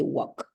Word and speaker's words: walk: okay don't forget that in the case of the word talk walk right you don't mention L it doesn't exist for you for the pronunciation so you say walk very good okay I